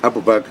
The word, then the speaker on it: Abu: Abu from Independent Media Abu yes Abu abua s it's it's pronounced as it's spelled that's the easiest okay okay Mr President